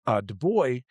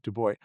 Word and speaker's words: Du Bois: Du Bois, or Du Bois rather, sorry, I always try to um, uh, say the French way of saying his name, but I believe he pronounced it Du Bois, was a Harvard educated